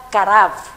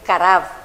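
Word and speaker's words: קרב: La palabra ofrecer o traer es la palabra karav. Se escribe con K y termina con B pequeña, karav, que significa traer cerca, ojo, traer cerca, ¿de quién?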